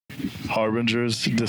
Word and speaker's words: Harbingers Descent: We're here with Harbingers descent Harbingers.